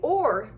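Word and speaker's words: או: is how to say or. It's actually really simple in Hebrew because it's kind of pronounced similar. It is o.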